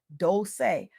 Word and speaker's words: Dolce: I'm your host Dolci, pronounced dol-say, like sweet softness whispered in French, and I'm your guide